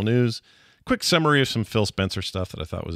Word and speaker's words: Phil Spencer: here uh spill spill spill fencer Phil Spencer rather is how you say his name uh sat down with